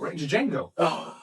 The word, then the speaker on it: Django: Django. You were just calling Rango. You were talking about Django, right? The D is silent.